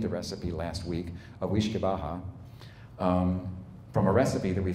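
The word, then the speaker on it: uisce beatha: It's interesting, and the reason I include it, because we think the way it's pronounced, the first part of it is ish or weesh, depending upon what dialect you're calling, and we think that word became whiskey.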